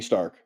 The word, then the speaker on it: Stark: spelled Stark like Tony Stark s t a r k but most of the time it it sounds like they pronounce it s h t a r k Stark so I don't